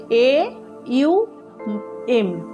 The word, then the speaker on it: ওম: ওম বলতে হয় তো ও আর ম লেখা আছে ওম কিন্তু উচ্চারণ হবে এ ইউ এম আর এটাকে ভেঙে ভেঙে